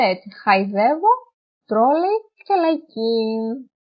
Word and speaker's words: χαϊδεύω: Και επίσης έχουμε τα διαλυτικά, που επίσης αυτά χωρίζουν τα δύο γράμματα. Όπως λέμε, δεν τα προφέρεται ξεχωριστά. Όπως λέμε, χαϊδεύω. Χαϊδεύω. Μετά, τρόλεϊ και λαϊκή. Αν δεν ήταν τα διαλυτικά, θα το διαβάζαμε ως σχεδεύω, τρόλι και λεκή.